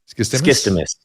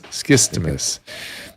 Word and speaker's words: Skistimas: Skistimas. Yeah. Skistimas.